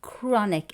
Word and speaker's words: chronic: Then we've got the word chronic. And here I'd like you to pay attention to pronunciation. The ch sounds like a cuh. Chronic.